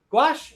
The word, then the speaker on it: gouache: How do you say it? Gouache? Gouache? Gosh? Gouache. Gouache? Okay. Gouache. Yeah. I always say it wrong. That was with a Q, right? Gouache. G. With a G.